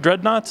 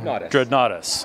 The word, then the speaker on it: Dreadnoughtus: You discovered dreadnoughts, is that correct? Did I say it wrong? Dreadnoughtus.